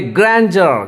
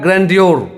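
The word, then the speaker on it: grandeur: क्या करता है मैं बता देता हूं, उसको वो पढ़ता है ग्रैंड्योर। ये ग्रैंड्योर नहीं है, ये है ग्रैंडर, ग्रैंडर।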